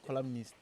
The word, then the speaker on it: columnist: I guess it's a columnist, not columnist. Yeah, like the N is silent, right?